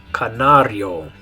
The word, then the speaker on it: canario: In Spanish, the way you're going to pronounce it is canario. Canario. So the C makes the same sound it does in English, but the vowels are different. That's what makes it sound different. The yo, canario.